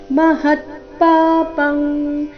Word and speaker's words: ಮಹತ್ಪಾಪಂ: ಸಹ ರಸ್ವ ಅಹೋ ತಮಹತ್ಪಾಪಂ ಇಲ್ಲಿ ಅನುಸ್ವಾರದ ಉಚ್ಚಾರಣೆ ಕ ವರ್ಗದ ಅನುನಾಸಿಕದ ರೀತಿ ಮಹತ್ಪಾಪಂ ಕರ್ತೋ ಕರ್ತು ಶಬ್ದದ ನಂತರ